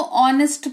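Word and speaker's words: honest: अब आप इसको ऑनेस्ट पढ़ोगे।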